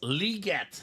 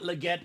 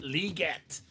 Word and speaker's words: Legette: Ronnie says a Julius Peppers and Xavier it's liette the way it's properly pronounced Stephen not Legette liette from what I've been seeing in the NFL